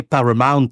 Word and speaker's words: Paramount: paramountotel à New York et là j'aurais plutôt dû prononcer parment hôtel de New York d'autres